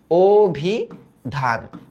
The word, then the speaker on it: অভিধান: কি হবে অভিধান হবে অভিধান। প্রথমত এটা অভিধান কেন হইছে বলতো? কারণ আদ্য অ এর পরে